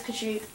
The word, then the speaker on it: Kashyyyk: Yeah, that is Kashyyyk. Oh. That took me like a year to figure out how to pronounce it correctly.